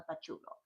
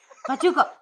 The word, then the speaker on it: pachuco: Um, but basically they were like, you are a punk, you are She, she told you what it was. pachucho, pachuco, pachuco, pachuco. That's the way you pronounce it.